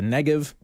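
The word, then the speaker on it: Negev: just a reminder the negative I know it has a B on it it's pronounced like a V and so sometimes it's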